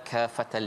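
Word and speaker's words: كافة: Kalimah tu Safas dia panggil mad lazim kalimi muthaqqal, berat.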